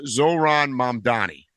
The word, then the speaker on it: Zohran Mamdani: There's this guy called I'm going to mispronounce his name, but his name is Zoran Mani. Okay, you got it right. That was perfect. Was it right? Zoran Madani.